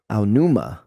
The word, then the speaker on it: Aonuma: Aonuma.